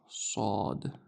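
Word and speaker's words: ص: The name of the letter is sad. Sad, but with a thick a very thick s.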